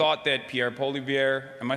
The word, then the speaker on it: Poilievre: And it was actually one of my only failed predictions of 2025 when I thought that Pierre Poilievre, am I saying that right?